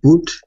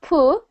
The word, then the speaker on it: put: Again, put. So not poo. If you're hearing the U sound.